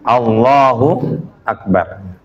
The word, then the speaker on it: Allahu Akbar: Bacanya itu Allahu Akbar. Allahnya agak panjang.